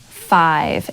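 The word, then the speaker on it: Fyve: get it local RX prescription equals five and it's spelled f y v e and it stands for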